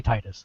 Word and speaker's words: Titus: the Japanese pronunciation but I think tetus is stupid it is and you know it's a localized American game it should be Titus sorry Titus exactly yeah